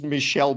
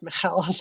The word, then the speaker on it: Michel: how um it's it's it's Michelle because it's a French name so right that's what